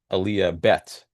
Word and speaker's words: Aliyah Bet: exactly Aaliyah Alf and Aaliyah bet which sounds like the alphabet, right?